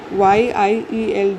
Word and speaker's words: yield: YIELD. You pronounce it as yield. year जैसे year होता है year. Okay, this year Hindi का year.